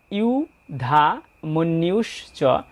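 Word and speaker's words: যুধামন্যুশ্চ: ই অহেতু অন্তস্থ জয় রসু রয়েছে তাই এর উচ্চারণটা ই অ এর পরিবর্তে ইউ এমনটি হবে তাই ইউ ধা মন্নিউশচ এখানে ন এর সাথে একটা জ ফলা রয়েছে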